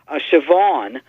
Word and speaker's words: Siobhan: in terms of pronunciation we put as an example siobhan which is spelled SI o bh a.m. and I know as a kid I had a friend named Siobhan and I thought it was spelled CH e VA WN and I'd see the